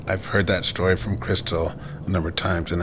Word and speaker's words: Cristell: And uh I just have people call me Crystal, but if it's in Spanish, it's Crystal.